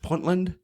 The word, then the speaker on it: Puntland: again this flag was from I think I'm pronouncing it right puntland in Somalia correct yes the flag that people